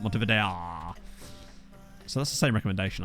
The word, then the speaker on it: Montevideo: That's how the locals pronounce it, Montevideo.